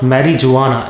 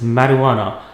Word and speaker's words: marijuana: It is not marijuana. It is marijuana.